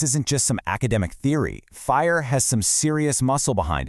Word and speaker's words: FHIR: That's FHIR, and it's pronounced fire. Now, people have tried to create standards like this before, but they were usually way too complicated or rigid. What makes fire so different is that